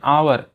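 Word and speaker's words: hour: An elephant, an आवर, एच यहाँ पर silent है तो वॉवेल साउंड क्या है? ओ है ना।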